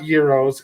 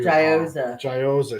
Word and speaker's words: gyoza: not Euros.